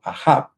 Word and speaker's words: Acab: La Biblia nos dice que Elías vivió un tiempo de crisis, ¿verdad?, donde había un rey llamado Acab, en algunas traducciones de la Biblia se pronuncia como Ahab, que se casó con una princesa libanesa que venía de el Líbano.